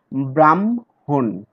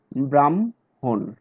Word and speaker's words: ব্রাহ্মণ: এখানে যে যুক্ত বর্ণটি দেখছে সেই যুক্ত বর্ণটি গঠিত হয়েছে হ প্লাস ম, কিন্তু আমরা উচ্চারণ করি ম প্লাস হ, যেমন ব্রাহ্মণ, ম আগে বলি তারপরে হ বলি, ব্রাহ্মণ।